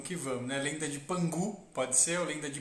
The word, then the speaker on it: Pan Gu: sobre o mito de Pan Gu se escreve com k mas se pronuncia com g algo parecido com um